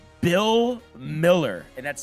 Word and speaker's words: Mueller: 300 batting average for the USA, Bill Miller, and that's spelled like Mueller, MU E, former Boston Red Sox.